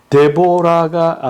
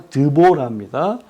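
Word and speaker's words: דבורה: 아니기 때문에 그래요 그다음에 데보라가 아니라 드보라 그다음에 프닌 나 페니나는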